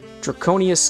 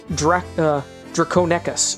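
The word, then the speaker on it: Draconequus: It would make ponies feel unease that the place was haunted by draconious ghosts. Well, now's a good time to reflect on the incredible journey. Aether Drew says pronounced Draconecus.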